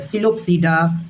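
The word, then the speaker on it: Psilopsida: सीड सीड last में सिलो सडा लाइकोपस tarots सडा ये पी साइलेंट है ऐसी चार क्लासेस दी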